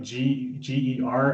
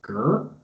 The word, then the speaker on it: Ger: But you always it's like Ger, and someone with an American inflection would be like Ger.